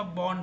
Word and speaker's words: Bourne: मतलब आप इसको रीड करते हो बॉर्नी, इट्स नॉट अ बॉर्नी, इट इज़ बॉर्न shell. अगर आप प्रोनाउंस करना चाहते हैं ना, सो BORN इसको प्रोनाउंस करो। अगेन आर थोड़ा साइलेंट होगा।